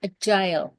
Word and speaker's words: AGIL: dia perkenalkan dengan nama agile, tulisannya agil tapi bacanya agile.